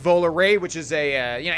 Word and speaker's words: Volare: whole life I pronounced Volare because that's how it's spelled gosh darn it but it's actually pronounced vowel array which is a you